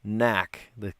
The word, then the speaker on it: knack: Knack, the silent K to make the word knack.